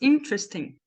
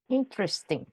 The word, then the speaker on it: interesting: é que eu falo três sílabas interesting interesting é esse G é mudo e aqui no meio Acontece uma síncope aqui ó desse e aqui ó vira vira uma coisa too embolada ali no meio interesting três sílabas Vamos pensar na próxima